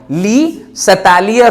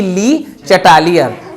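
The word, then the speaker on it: Le Chatelier: तो इसी हिसाब से चूंकि ये साइंटिस्ट रशियन थे इसलिए उनका नाम क्या हो गया ली सतालियर हो गया, न कि ली चटालियर।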